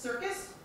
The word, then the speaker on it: CRCS: of you who wonder crcs is pronounced circus so we kind of